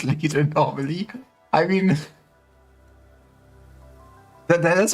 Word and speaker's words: Lidl: This is Kong Strong, the wild power from Lidl.